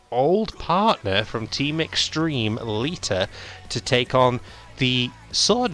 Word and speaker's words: Lita: I'm sure there's meant to be a T in there. Lita, not Lita. The name is not spelled L-E-A-D-E-R. It's spelled L-I-T-A.